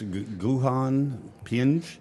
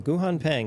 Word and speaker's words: Guhan Pang: And I'm not going to try to pronounce Guhan Ping Pang. Guhan Pang, a wonderful pianist from the Eastman School of Music.